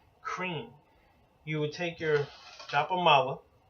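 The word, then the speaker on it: Kreem: And Kali seed mantra is cream. Literally as it sounds, closely associated with the English word cream, C-R-E-A-M, but in the Sanskrit, transliterated to English is K-R-E-E-M, cream.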